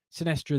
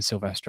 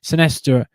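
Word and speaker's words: Sinisterra: I keep saying Silvestre. I need to stop saying Silvestre. Sinestra. I don't know how you say it, has scored.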